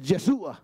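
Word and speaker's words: ישוע: diga conmigo yeshua porque el nombre correcto de Josué es yeshua en hebreo yesua Mire es lindo pronunciarlo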